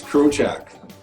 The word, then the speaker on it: Krochak: I'm your host, Marshall Farnsworth, here with Alex Breitenbach and, how do you say your last name again? It's Krochak.